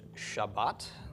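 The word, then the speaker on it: שבת: Another highly significant word, sheen, bait, tav, with a patach under the sheen, and a comets under the bait, and this bait does have a dagish. So this is pronounced Shabbat, and is, of course,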